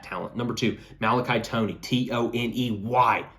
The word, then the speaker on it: Toney: Number two, Malachi Toney, Toney. Toney rhymes with money, depending on how you say money.